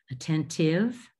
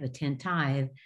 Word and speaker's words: attentive: And next word, attentive, tive. It looks like it should be a tieve, attentieve, but it's tive.